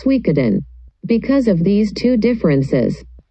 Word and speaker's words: Suikoden: evident about the title the pronunciation in chinese as shuyujong and in japanese the pronunciation is suikeden because of these two